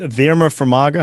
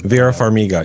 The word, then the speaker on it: Vera Farmiga: Verma Farmiga. How do you say her name? Vera Farmiga.